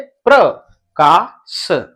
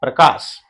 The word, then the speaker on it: प्रकाश: तो पदेन की मात्रा का जिस व्यंजन वर्ण में लगी है उस व्यंजन वर्ण के बाद में पूरा का पूरा र उच्चारण होता है।